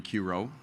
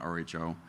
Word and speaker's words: Q-Ro: So the commercial name of the strain will be Q-Ro. That's pronounced Ro, not R-H-O.